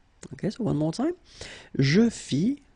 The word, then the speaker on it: fis: Je fis, final S not pronounced.